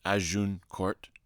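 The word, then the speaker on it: Agincourt: one more man the Battle of azun Court pronounced aun Court wonderfully chronicled in Shakespeare's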